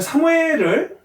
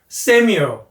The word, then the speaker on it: Samuel: 일단 사무엘을 이제 이 발음이 우리가 사무엘 이러면 안 되죠. Samuel, Samuel, Samuel.